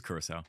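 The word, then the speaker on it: Curaçao: Coriss. Sorry. I don't know how to say it either. Kiss. Yeah. Yeah, it's it's Kurissau. Yeah, I I said it wrong.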